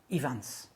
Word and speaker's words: Ifans: We don't have V's in Welsh, so the V sound is with a single F, okay? This is Irfon Ifans.